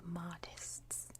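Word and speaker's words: Mahdists: followers were called the modests and i know when i say that it sounds like the word modest mod esd but don't think of it like that and the mahdi i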